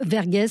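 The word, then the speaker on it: Verghese: une saga magnifique le pacte de l'eau d'Abraham vergess ça s'écrit V r G H e s et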